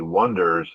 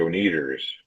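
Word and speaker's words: Oneders: in a band and they call themselves the wonders spelled o-n-e durs and everybody kept mispronouncing them thinking they were the one eaters so and they would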